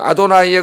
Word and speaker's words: 아도나이: 그래서 그렇게 자음을 붙여 자음에다 야훼라는 자음에다가 주님 아도나이의 그 모음을 붙여버리면은 발음이 어떻게 되냐면은 예호와 이렇게 발음이 돼요.